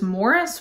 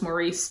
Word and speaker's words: Maurice: Somebody told me that the English pronunciation of this is Maurice, which is just bizarre to me, and I don't think I can really make that change. So I'm gonna continue to call this Maurice.